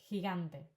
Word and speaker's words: gigante: Um I don't know geography giant gigante. Okay. Again everything that in English would be a j sound in Spanish is a h sound.